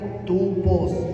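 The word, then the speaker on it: τύπος: que que es tupos esa es la palabra modelo en griego se pronuncia tupos Sí tupos su significado hermano es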